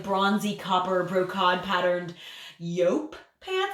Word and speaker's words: jupe: And like really tight kind of like bronzy copper brocade patterned yope pants. I think it's pronounced yope.